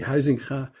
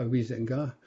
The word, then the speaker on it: Huizinga: His name is actually Huizinga. I once mentioned to a French colleague Huizinga, and he said, ah, Huizinga.